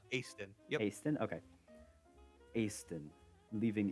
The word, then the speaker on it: Easton: Easton. Aston.